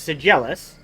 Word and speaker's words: sedulous: o u s instead it's pronounced sejalis dedication of a purse